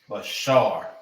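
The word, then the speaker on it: בשר: Flesh and body is Bashar.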